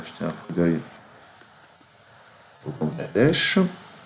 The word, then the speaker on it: Bangladesh: Puisqu'on est sur Wikipédia, on va jeter un coup d'œil au Bangladesh. Il y a plein de gens qui prononcent ça Bangladesh et je comprends pas pourquoi. B-A-N, jamais on prononce ça Bain.